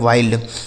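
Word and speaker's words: wild: आई के रूप में डब्ल्यू आई एल डी तो डब्ल्यू से हो गया दोस्तों व इस आई का उच्चारण आई हो गया एल से आधा ल डी से ड हो गया लिखा गया वाइल्ड डब्ल्यू आई एल डी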